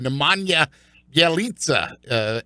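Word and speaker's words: Nemanja Bjelica: or I believe Keith according to our official pronunciation guide Nemanja yelitza and be questionable that's perfect get back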